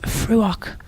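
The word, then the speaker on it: Fraoch: And the pointer is French pronounced, oh gosh, which is also, oh, hang on a minute, French pronounced Fruoch, which is Gaelic for heather.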